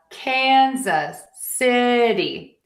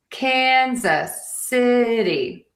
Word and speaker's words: Kansas City: Kansas City Chiefs. So, we have Kansas City. I wrote a D here because this is a flat T situation. Kansas City.